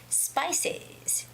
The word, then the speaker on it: spices: three sounds there spices actually the last sound is z the voiced sound of s so it's spicies spices spices okay well if you